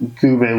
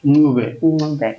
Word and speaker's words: Ncube: So if you can pronounce the Ncube, be my guest. But the English have said Ncube, which does not make any sense whatsoever. But yeah, so it's Ncube.